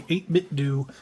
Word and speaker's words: 8BitDo: The 8bit D 64 Bluetooth controller. Yes. And it is pronounced D.